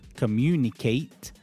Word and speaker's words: communicate: For example, communicate. At e is pronounced as ate like the past tense of to eat.